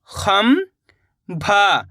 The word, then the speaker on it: खंभा: खंभा, खंभा। इस शब्द के अंदर भी अपन ने आधा माँ का उच्चारण करा है।